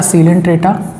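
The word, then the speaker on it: Coelenterata: यह है आपका सीलेंट्रेटा और नाइडेरिया। यहाँ पर सी जो है साइलेंट होता है, यहाँ पर ओ साइलेंट होता है।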